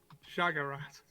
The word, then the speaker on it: Shaggart: got his name right shagrat how do you pronounce that shag a rat shaggart it's an old orc name boy for him when